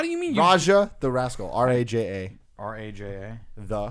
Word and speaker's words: Raja: How do you mean you Raja the Rascal.